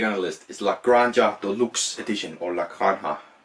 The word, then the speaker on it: Granja: I've heard it pronounced more like an H, like a granja. But I just say La Granja because it's a J.